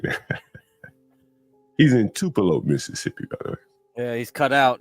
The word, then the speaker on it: Tupelo: name of it again tup T tup T Mike come on Mike was laughing at you about how you pronounced it I was and I was trying to look it up I was like what the hell what city did he say it's Tupelo M get it right you've